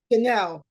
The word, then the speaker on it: Jeanell: It's Janelle. Janelle is the pronunciation for me.